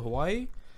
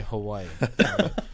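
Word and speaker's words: Hawaiʻi: so you go to hawaii if there's a w within the word pronounce with a v as soon as i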